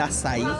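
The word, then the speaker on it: açaí: Bueno, conseguí un puestico para probar el azaí. Miren cómo se escribe. Con C de Sevilla, que se pronuncia como una S. Tiene acento en la I, azaí.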